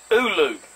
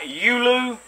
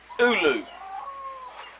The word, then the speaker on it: ulu: we're gonna solve this it is pronounced oolu not yulu or yuli it is ulu dictionary iphone that's it